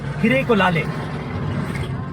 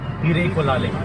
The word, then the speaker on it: Hirekolale: It's called Hirekolale. It's a little complicated, right? Hirekolale.